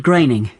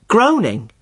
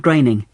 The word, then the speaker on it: Groening: thought it was pronounced groaning well I did too for a long time but no it isn't it rhymes with raining Matt graining okay that's the name